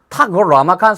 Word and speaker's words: 타클라마칸: 중국에서는 그 본토 발음으로 타클라마칸 사막이라고 부릅니다.